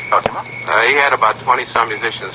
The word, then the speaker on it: Cosima: Is that how you pronounce it? Yes, Cosima.